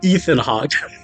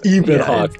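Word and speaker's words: Ebon Hawk: call it oh oh I used to call it a Ethan Hawk but it's it's Eben Hawk let's it's Ean Hawk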